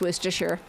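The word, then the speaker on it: Worcestershire: Worooersher pronounced worstershure.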